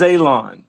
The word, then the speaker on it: Alon: My name is Alon. Pronounced like you're going to cut grass, like you're going to cut a lawn.